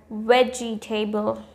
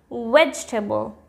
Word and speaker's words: vegetable: We often say the word vegetable as vegetable. It's wrong. It's vegetable.